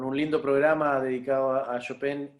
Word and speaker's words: Chopin: Chopin, claro, claro, porque como tú sabes, las palabras en polaco son todas graves. Todas las Ah, palabras son graves. Entonces, todo lo que uno dice tiene la acentuación en la penúltima sílaba. Entonces, en este caso es Chopin.